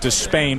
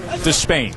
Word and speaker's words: Despaigne: By the way, we went a couple years with everybody saying you're Danis Despa. That's how it was to be pronounced. And he said last night, you know what, Despain? So that's what we go with.